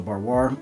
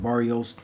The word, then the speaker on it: Barrois: So as I pull out the Marc Antoine Barrios or Barrois, I'm hearing Barrios more now, so I'll pronounce it Barrios.